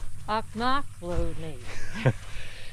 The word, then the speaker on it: Ochlockonee: All right, Kelly's going to teach us how to pronounce the name of this park. Ochlockonee. What is it? Ochlockonee. And what town is it near? Sopchoppy. That's right, Sopchoppy. Sopchoppy, Florida. I think it's pronounced Ochlockonee. I'm not sure. It's a native named river, so I don't want to butcher it too bad.